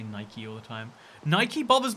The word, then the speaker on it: Nike: yeah i it's pronounced nike after the goddess of victory i people who pronounce it nike uh do you pronounce